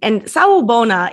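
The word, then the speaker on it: Sawubona: It's the beautiful greeting, Sa Ubona. Is that how you pronounce it?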